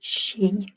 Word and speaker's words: Ski: word for ski because it looks like ski like in english but you pronounce it she i went swimming okay